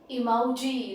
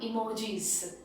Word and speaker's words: emoji: mobiles what is that it is emoji it is not emojis the japanese word for this is emoji that is the origin of the word japanese you can't change the